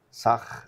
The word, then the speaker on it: Tzach: El embajador de Israel en Ecuador, Sag, así se debe pronunciar el nombre.